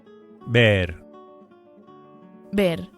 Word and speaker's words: ver: The verb to see is ver. As usual, the v is pronounced as a very light b. ver ver Can you give the Spanish for, "I want to see your car?"